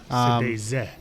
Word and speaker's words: Sëdézë: Sëdézë. Sëdézë is with tongue, how you would pronounce it actually.